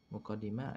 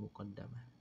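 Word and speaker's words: مقدمة: dalam redaksi yang lain pelafalan kata mukadimah ada juga sebagian yang menyebutkan dengan redaksi atau cara melafazkannya dengan mukadamah n tib kita masuk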